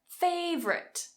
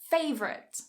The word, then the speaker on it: favorite: The next one, favorite, favorite. Cut a syllable. Favorite, favorite.